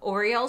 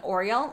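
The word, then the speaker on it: Aureole: So if the Hourglass highlighters are too much for you, then the Syrah and Oriole might be a great alternative. And that's spelled A-U-R-E-O-L-E. So not like Oriole the bird.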